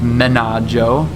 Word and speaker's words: Menaggio: So even though you'd probably say Bellagio, it's actually pronounced Bellagio. Not that really matters at all. Same with Menaggio, which is on the other side.